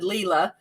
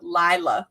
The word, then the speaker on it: Lila: lila loa but his speaker said leela and they know each other so i was like whoops this is going to be i hope i'm not going to re-record all the videos where i've said it wrong but it really is truly lila loa okay all right so